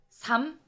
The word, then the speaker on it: 삶: 닭, 삼, 읍.